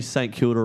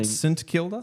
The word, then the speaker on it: St Kilda: Could you confirm if I say St. Kilder right? St Kilda. Am I saying that right? I I think so. Cuz Dylan pulled me up last week. He was saying S Kilda.